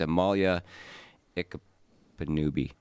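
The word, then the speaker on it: Amala Ekpunobi: It's Amalia Ikapanubi. That is how you pronounce it, yes.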